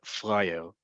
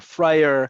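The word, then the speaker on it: פראייר: If you don't know this word yet, you need to know this word, is the word freier. Freier or friar, however you want to pronounce it. Freier is best and often translated, it's often translated as a sucker, meaning a person.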